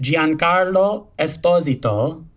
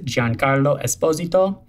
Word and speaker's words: Giancarlo Esposito: should all be saying giancarlo esposito is my italian best attempt at my proper italian pronunciation as john carlo is